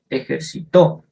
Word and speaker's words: ejercitó: en los cuales tenemos, para las palabras agudas, son las que tienen el acento, las que llevan el acento en su última sílaba, como por ejemplo, ejercitó. Ahí está marcado señalado con rojo, en dónde va la fuerza de voz. Entonces, el ejemplo sería, Daniel ya se ejercitó. También tenemos las palabras llanas o graves.